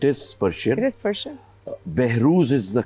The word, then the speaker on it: Behroze: Behrouz is the correct pronunciation. Behrouz.